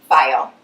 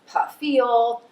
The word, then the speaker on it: File: I think that my last name, File, is as easy as hooked on phonics. However, I'm reminded, like with my first name, when people cannot pronounce a name, they tend to add in extra syllables or additional letters, kind of make it up as they go along. So File becomes Puffiel, add an extra F for Fifel, or sometimes they just